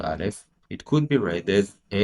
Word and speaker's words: Aleph: In the case of Aleph, the name of the first letter, Aleph, the first syllable of the name is A.